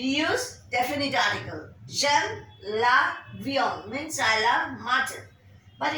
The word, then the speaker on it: viande: The next one is j'aime la viande. Viande. V-I-A-N-D-E.